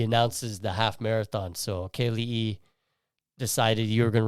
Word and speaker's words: Kealii: They say my name sometimes, Kealii.